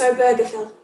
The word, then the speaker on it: Obergefell: belonged to this couple was john arthur and jim obergefell about the film and people wanting to say overflow i did look up how to pronounce it it's obergefell so john arthur and obergefell met in the